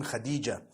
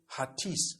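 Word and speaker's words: Hatice: came across the name Khadijah in Turkish some people spell it h a t i c e I would say hatis for that no it's actually Khadija in Turkish that's the way they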